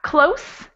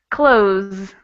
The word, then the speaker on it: close: so close exactly so the first one would be a voiceless s sound that would be the standard s sound so it's like a snake very quiet and the second one has voice so if you were to put your hand over your throat and pronounce just this s z it sounds like a z we have close to